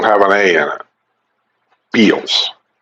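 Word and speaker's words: Bealls: You think they pronounced Beals? Bells. It's Beals.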